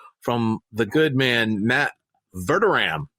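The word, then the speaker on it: Verderame: his super bowl uh version it is matt vertoram who i've been mispronouncing as matt verdurame uh for for the last few weeks uh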